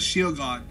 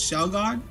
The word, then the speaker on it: Shelgon: Okay, so, So, the thing about Shelgon, I call him Shelgon, but I feel like his name is supposed to be pronounced as Shielgon. Like, originally I pronounced it as Shielgon because I thought there was an I in it, but I realized it's Shelgon.